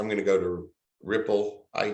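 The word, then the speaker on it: Replit: have an online ide they said pronounce it ripple so we'll do that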